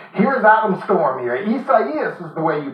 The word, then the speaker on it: Isaias: Isaias is the way you pronounce that.